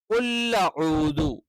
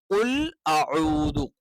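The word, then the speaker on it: قُلْ أَعُوذُ: അപ്പൊ ഇവിടെ കുൽ അഊദു കുൽ ഔദു അല്ല കുൽ അഊദു ഇനി ചിലപ്പോൾ ഈ ഐനിന് പകരം കുൽ അഊദു കുൽ അഊദു എന്നും പാരായണം ചെയ്യാറുണ്ട് അതും എന്താണ് തെറ്റാണ് കുൽ ഔദു തെറ്റാണ് കുൽ ഔദു തെറ്റാണ് ഇനി ചില ആളുകൾ കുറച്ചുകൂടി ഈ പറയുന്ന രീതിയിൽ തന്നെ കുല്ലൂദു എന്ന് പറയും കുൽ ഔദു എന്ന് പറയുന്ന ആളുകൾ ഉണ്ട് കുൽ ഊദു എന്ന് പറയുന്ന ആളുകളുണ്ട് രണ്ടും തെറ്റാണ് ഇനി കുൽ അഊദു എന്ന്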